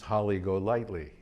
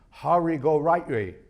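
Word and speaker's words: Holly Golightly: down the road one of my favorites is holly go lightly which is how we would pronounce it but in the movie one of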